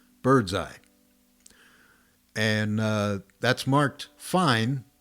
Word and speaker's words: fine: creative am i and the fine pronounced fine is the final ending